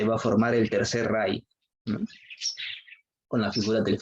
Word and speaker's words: Reich: Se pronuncia así, el Segundo Reich.